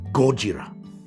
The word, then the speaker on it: Gojira: It's Japanese. The emphasis is on Gojira.